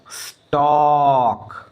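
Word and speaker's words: stalk: ये एल है ना इस एल का उच्चारण नहीं होना है इसमें क्या हो जाएगा देखिए ये वॉक बोलेंगे इसको वॉक इसको क्या बोलेंगे आप चौक बोलेंगे चौक इसको क्या बोलेंगे स्टॉक स्टॉक बोलेंगे स्टॉक और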